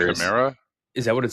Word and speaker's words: Chimera: Did But you then say Chimera? is that what it says? Or can you see it closer? Well, we pronounce that as camera here in the U.S.